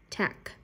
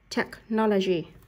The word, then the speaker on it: technology: Chữ CH ở đây được phiên âm thành chữ K. Tech. Technology.